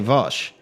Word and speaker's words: Vaush: You don't have to say it like that anymore. You just say Vaush.